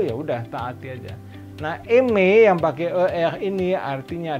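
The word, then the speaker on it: aimer: Ini dibacanya eme. Nulisnya AI M E R tapi dibacanya eme. AI-nya berbunyi E, ER-nya juga E.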